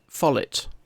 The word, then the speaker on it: MFollet: Yeah, I pronounce it MFollet. I pronounce the T.